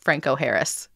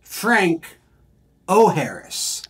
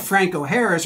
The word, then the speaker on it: Franco Harris: just had me rolling how did people in Pittsburgh mess up Franco Harris intentionally uh is the probably the easiest way to say it so Franco Harris um from uh African-American descent and Italian descent um but in Pittsburgh for whatever reason early in his career they said it as Frank o Harris uh kind of turning them Irish um even though the